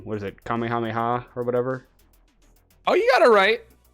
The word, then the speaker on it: Kamehameha: Kamehameha or whatever?